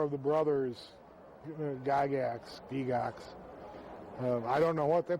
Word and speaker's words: Gygax: ERNEST GARY GYGAX. Pronounced in Switzerland Gygax. Gygax. But we've Americanized it to Gygax. At least my branch of the family has.